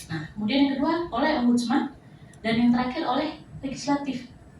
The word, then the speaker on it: Ombudsman: Jadi bacanya bukan Ombudsman atau temannya Spiderman atau Batman, tapi bacanya Ombudsman.